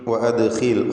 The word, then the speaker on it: وأدخل: ഗഫൂറുർ റഹീം വഅദ്ഖിൽ യദക ഫീ ജൈബിക്, വഅദ്ഖിൽ ഖാഇൻ്റെ ഉച്ചാരണം ഏറ്റവും കുറഞ്ഞ തഫ്ഖീം നൽകിയാണ്, കാരണം അതിന് കസ്റായതുകൊണ്ട്. ദാലിന് ഖൽഖല സുഗ്റ നൽകണം, സുക്കൂൻ വന്നതുകൊണ്ട്. വഅദ്ഖിൽ എന്ന് ശബ്ദം ചലിപ്പിച്ചുകൊണ്ട് ഉച്ചരിക്കുക ദാലിന്.